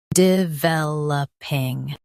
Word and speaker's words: developing: Stress vel and keep upping light and quick.